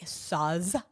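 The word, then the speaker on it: Sauz: It's spelled S-A-U-Z. Saz.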